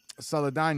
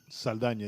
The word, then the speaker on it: Saldana: the well you know horrible was it as saladin yes zoe saldana yeah you know well she put out a